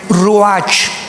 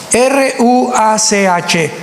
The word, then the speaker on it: ruach: Apunten todos ustedes, los que les interese en su Biblia, la palabra espíritu, que la palabra se escribe ruach, R-U-A-C-H, ruach, que es la palabra espíritu.